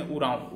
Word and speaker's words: उरांव: ठीक, इसके बाद सेकंड पोजीशन इसमें उरांव। उरांव का स्पेलिंग गलत है, OR होता है, ORAON, उरांव होता है।